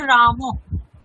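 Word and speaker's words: রামঃ: হকারের মত হবে যেমন রামহ এখানে উচ্চারণটি হবে রামহ অর্থাৎ যে স্রবর্ণের পরে বিসর্গ থাকবে বিসর্গের স্থানে হকার বসিয়ে হকারের পরে সেই স্বরবর্ণটি যুক্ত করে উচ্চারণ করতে হবে।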